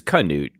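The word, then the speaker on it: Knute: this record uh failed so you're you're pronouncing wrong it is kanute by the way fair enough uh all the strangers call him newt but his friends call him knut fair enough uh brian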